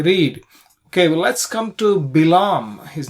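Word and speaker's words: Bil'am: the son of beor English in English we pronounce it as balam uh but in Hebrew bam Ben beor bam Ben Bor so uh from where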